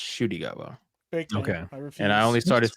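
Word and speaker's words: Ncuti: say shoy gwa shwa it's spelled NTI gwa but it's pronounced shwa and I only started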